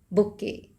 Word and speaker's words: bouquet: This is बुके.